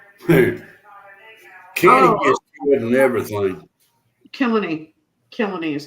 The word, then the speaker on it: Kilkenny: Kilkenny is how you say it.